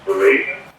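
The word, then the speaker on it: véraison: I believe it's pronounced Verazon.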